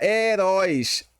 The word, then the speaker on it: heróis: Olha só, palavra heróis. Opa. Heróis é oxítona, pessoal, porque a sílaba forte é aqui, ó. Róis, tá bom?